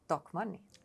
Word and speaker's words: Tokmanni: other channels as well how you pronounce it correctly in Finnish and it's really talk money Talk Money and how